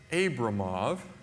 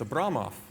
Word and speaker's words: Abramov: It's not Abramov, it's Abramov. So next time you see